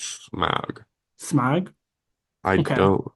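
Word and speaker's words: Smaug: little pathway and they get attacked it is smog okay SM smog if I say it wrong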